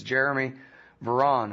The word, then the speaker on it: Jeremy Varon: In this case, it's Jeremy Varon.